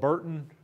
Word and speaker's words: Britton: by the Spanish government on Britton Creek, or sometimes called Burton Creek or Britton Creek. Usually not called Breton Creek. You know, we just don't pronounce anything the way it's spelled in the Ozarks.